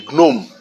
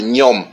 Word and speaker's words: gnome: la terre qu'on appelle les gnome ou le nom ou le Gom ça dépendra de la prononciation mais je crois que la bonne prononciation c'est le gnome G n o M